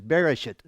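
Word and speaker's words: בראשית: because it sounds ugly, but the way you pronounce this is Bereshit.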